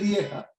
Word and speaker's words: Liège: De Liège, en Bélgica. Sí, yo me escucho. Se pronuncia así. Puede decir Lieja.